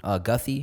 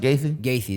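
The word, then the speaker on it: Gaethje: his face said just one who just won Guffey right or how you say his name leave them on ya gothy Goffe Oh Justin Casey there you go so he just wants so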